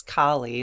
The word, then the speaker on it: Kali: So call upon Goddess Kali. It's Kali. Kali is how AI is telling me to pronounce it.